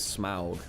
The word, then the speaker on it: Smaug: But the problem is that the pronunciation is Smaug.